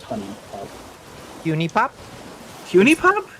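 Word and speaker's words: HuniePop: It's uni pop. It's just bejeweled. Honey pop. It's It's pronounced honey pop.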